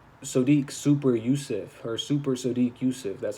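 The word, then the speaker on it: Sodiq Yusuff: Mobley Benitez versus Sadiq super Yusuf her super Sadiq Yousuf that's how you say it yeah Gabriel Bonita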